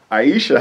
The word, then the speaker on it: Ayesha: don't forget kids don't forget kids don't forget aisha how are you today hey this is aisha